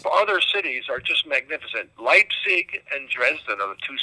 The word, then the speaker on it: Leipzig: that pronunciation because I've always called it lipstick so I'm from now on its Leipzig for me thank you tell me